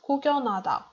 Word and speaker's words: 구경하다: So after these letters, l, m, n, the letter h is not pronounced. Here is such a situation. 구경, and then we don't read who, so it's 구경하다. And the last one word is 열심히.